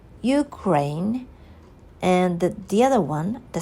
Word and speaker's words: Ukraine: ways like uh the one should PR place a stress on the first syllable like Ukraine and the other one